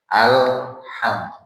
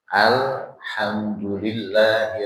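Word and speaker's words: الحمد لله: Nah, huruf lam ini bukan termasuk huruf qolah-qolah, maka dia nggak boleh ada buntutnya. Habis Pak bacanya. Alham. Nggak boleh dibaca bunyi la-nya itu nggak boleh. Nah, harus dibaca habis. Alhamdulillahi Rabbil alamin.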